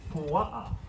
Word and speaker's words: pua'a: Pig in Hawaiian is pua'a, P-U-A-A, pua'a.